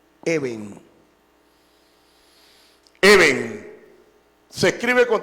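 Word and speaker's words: אבן: Esa palabra se lee Eben.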